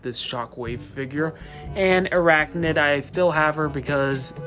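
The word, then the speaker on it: Airachnid: For Transformers Prime, I have Shockwave and Arachnid, or Arachnid, that's how you say it.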